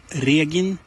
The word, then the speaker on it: Regin: But as far as pronunciation goes, it's Regin with the hard G and the long E, slightly wider E sound than in English, E.